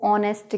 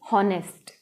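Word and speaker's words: honest: और फिर हमने ऑनेस्ट को भी क्या है, एच लेटर नहीं देखना है, बल्कि उसकी प्रोनाउंसिएशन देखनी है कि हम इसको ऑनेस्ट कह रहे हैं, ना कि हॉनेस्ट।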